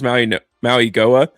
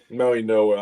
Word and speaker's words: Mauigoa: It's Francis Maui Maui Goa. Maui Noah. I found out that's how we pronounce it.